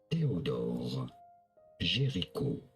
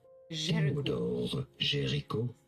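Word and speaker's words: Théodore Géricault: In French, in France, it is said as Theodore Gericault. Theodore Gericault, but it'd be fine in English to say it as...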